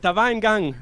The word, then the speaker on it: Var Engang: It is Var Engang with the song In Skønne.